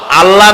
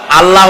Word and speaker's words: আল্লাহ: বলেন তো আল্লাহ নয় কিন্তু আল্লাহ হচ্ছে অশুদ্ধ।